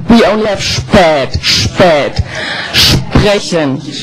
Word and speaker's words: sprechen: Sprechen.